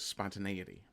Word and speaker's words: spontaneity: word he's trying to figure out how to pronounce is spontaneity and yeah if you're not 100% literate and